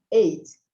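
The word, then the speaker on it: eight: 8. Esquece esse H, esse G aqui que não tem, não pronuncia. Então, fica só 8.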